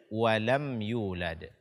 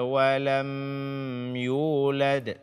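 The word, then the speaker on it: ولم يولد: ini yang pertama adalah menahan suara pada mim sukun pada kata lem ya di The walam yulad disini hukumnya adalah izhar syafawi dibaca dengan jelas matinya tanpa menambah dengung namyi the walam yulad ini tidak dibenarkan karena hukumnya bukan Ikhfa Syafawi bukan pula idgham mimi jadi dibaca dengan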